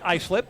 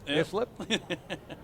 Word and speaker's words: Islip: call it that's right out of towners will obviously mispronounce islip as this one do you slip right next to patuku